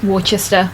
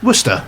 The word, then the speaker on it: Worcester: Same spelling, totally different pronunciation, but Warchester. Warchester. Warchester. Warchester as opposed to obviously Worcester as we all know it.